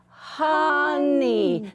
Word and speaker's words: honey: Did you hear how the O kind of, it kind of sounds more like a short U sometimes? We don't say honey, we say honey.